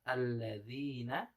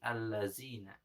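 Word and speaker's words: الذين: Contohnya misalkan kalimat alladzina dibacanya alladzi allazina. Nah, itu salah ya. Harusnya zal menjadi zai.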